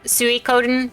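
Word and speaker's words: Suikoden: I always say and I know that it's Su Coden but um as a kid I couldn't pronounce that I didn't know Japanese or anything I took Japanese when I was in college um so uh it comes out suen because that's how that's how little me said it so look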